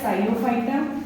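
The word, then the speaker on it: Psilophyta: इसके चार डिवीजन है प साइलेंट रहता है साइलो फाइटा दूसरा हमारा डिवीजन है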